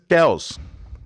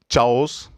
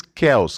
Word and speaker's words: chaos: This is chaos. It is not chaos. It is chaos.